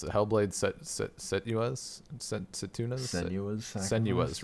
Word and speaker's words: Senua: Senua's, right. I always want to put a T in there for some reason.